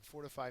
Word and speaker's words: fortify: Next word is fortify, and fortify means to strengthen or build up. It is a verb, and the first syllable is accented.